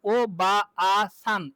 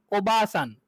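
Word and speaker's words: おばあさん: এখানে আয়ের উচ্চারণ করা, যেমন ও বা আ সান, এটা বলা লাগবে না, কি কি বলতে হবে? ও বা সান, ও বা। তাহলে ওবাসান, ওবাসান মানে আন্ট, আর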